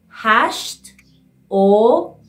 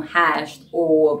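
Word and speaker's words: هشت: So you can say hasht or bist daqiqe. But here, no one talk like a robot, you know, hasht or bist daqiqe, you see? They say hashto, attach o sounds to the t sound, hashto, hashto bist daqiqe.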